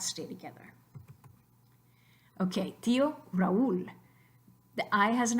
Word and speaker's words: tío: So try to say tío in one syllable. Just try it. Tío, tío, tío. Sounds stupid because we don't want tío, we want tío.